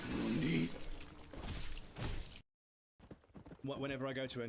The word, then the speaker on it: nani: You don't say nanny, you say nani.